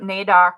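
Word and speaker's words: NAIOC: was I was gonna ask about naok if that's the way they pronounce the acronym and this might be a good spot for that yes it that's exactly how it's pronounced the national Aboriginal indigenous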